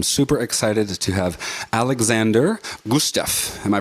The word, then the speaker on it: Gusev: labs and i'm super excited to have alexander gustaf am i pronouncing that last name correctly yeah gooseb gotcha alexander gusev i've actually never said your